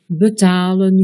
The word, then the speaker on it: betalen: 3 syllabes ou plus, la règle générale est que ce premier E est un E muet, comme dans betalen, gebruiken, verbazen.